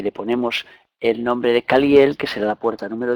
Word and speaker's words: Caliel: Caliel lo dividimos en tres sílabas, nos daría K, Cali, Caliel.